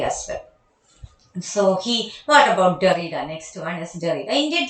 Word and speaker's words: Derrida: Then the second key figure in the development of post-structuralism in the late 1960s is the philosopher Jacques Derrida. Please note down the pronunciation.